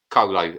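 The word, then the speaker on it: Coelho: attempt uh julian kohler oh so close joseph colo or how however it's pronounced c-o-e-l-h-o again i i had a question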